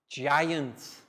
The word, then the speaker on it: giant: Giant. G. soft sound, letter J.